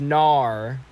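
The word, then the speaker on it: Naur: it's not said no it's spelled n a UR it's Nar N I don't like what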